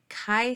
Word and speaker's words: Chi: test as you'll see Chi Squared is spelled c h i squared and so that Chi is pronounced Chi like a k like kite so Chi Squared Distribution of color